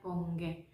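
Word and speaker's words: 번개: Selanjutnya yang biasanya kalau habis ada petir itu biasanya ada kilat, atau sebelum petirnya itu kilat disebutnya dengan pongge. Misalnya pongge tapi bacanya pongge.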